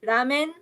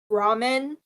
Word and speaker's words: ramen: i mean by like this is what i mean by weird american pronunciation ramen ramen i think we should